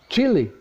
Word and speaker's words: Chile: You know, it's Chile. Well, it's not chili pepper.